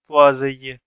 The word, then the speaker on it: Poiseuille: तो पहले मैं आपको ये बता दूं कि ये इस की जो प्रोनाउंसिएशन है पोआज़िए, ये इसकी प्रोनाउंसिएशन ऐसी इसलिए है क्योंकि ये एक फ्रेंच नेम है।